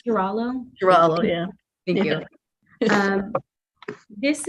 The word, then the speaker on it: Garullo: This is Girallo, I think it's pronounced. Girallo.